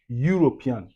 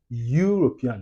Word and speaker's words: European: European. OK, on dit European. European. So, ici c'est le son de Y. Y, ça c'est le son de l'éta en anglais c'est Y.